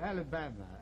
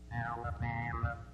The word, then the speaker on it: Alabama: The top one is the American pronunciation with strong and weak syllables, and the French one, the bottom, is with more equal syllables.